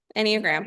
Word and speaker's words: Enneagram: Oh yeah, Enneagram.